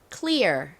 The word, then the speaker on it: clear: 그래서 cool과 EAR이 합쳐지니까 clear 이라는 발음이 됩니다.